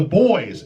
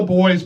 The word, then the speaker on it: Buoys: This one is called Timothy by the Buoys, and the Buoys is spelled differently.